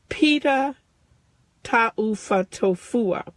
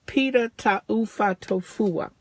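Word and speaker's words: Pita Taufatofua: Pita Tahu. Pita Tahu.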